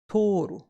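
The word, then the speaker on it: 取る: To take or to pick up is pronounced as toru.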